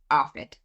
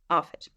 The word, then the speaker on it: ARFID: new terminology for me is it pronounced arid or do you say a r fi D arid arid so um yeah this is